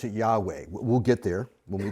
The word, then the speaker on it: Yahweh: I pronounce it Yahweh.